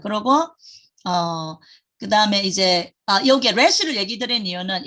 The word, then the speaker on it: ר: 래쉬를 얘기 드린 이유는 이건 영어의 R 발음에 해당돼요. R. 근데 조금 이제 히브리어식으로 하면 예, 에레브가 뭐냐면 저기 저녁이에요. 저녁이 에레브. 근데 영어식으로 하면은 herb 뭐 이렇게 하겠죠. 영어식으로는 굴리니까. 근데 히브리어식으로는 R이 이렇게 해요. 그래서 리얼은 리얼인데 조금 바람 새는 R 사운드예요.